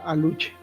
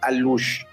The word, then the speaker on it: alux: El el ¿Cuál es la pronunciación correcta de la palabra aluche?